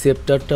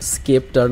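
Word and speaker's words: scepter: মিলে লেগে পড়ে লোকেরই সেপ্টারটা উদ্ধারের কাজে তবে একচুয়ালি এই অস্ত্রটার উচ্চারণটা হবে হচ্ছে স্কেপটার নট সেপটার আমার স্ক্রিপ্ট রাইটার আর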